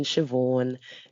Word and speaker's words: Siobhan: In which case, then I go down to my usual lines of there's no H in Siobhan, there's no H in Sinead, there's no H in Sade, and yet here we are.